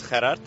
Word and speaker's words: Gerard: Hi, my name is Gerard. That's actually how you pronounce it in Afrikaans, even though I tell people here in Catalonia that I'm Gerard.